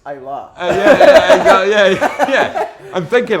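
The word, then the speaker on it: Islay: It's actually pronounced Isla.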